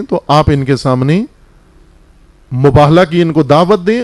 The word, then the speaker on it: مباہلہ: مباہلہ نہیں ہے بلکہ مباہلہ، ہے پر زبر ہے، میم بے الف ہے 2 آنکھوں والی، لام اور گول تے.